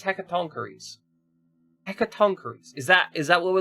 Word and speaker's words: Hecatoncheires: Yeah, actually pronounce it, please. This one says Hecatoncheires.